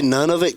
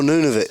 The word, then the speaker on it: Nunavut: Nunavut, Canada. Yeah. However the hell you pronounce it. What did you say, none of it, Canada? Yeah, Nunavut. Oh, Nunavut. Yeah. However you I thought you said none of it.